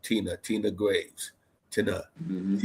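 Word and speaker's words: Tenah: Tina. T E N A H. My own Yeah, that's how you spell it.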